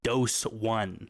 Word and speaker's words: Doseone: That's pronounced dose one.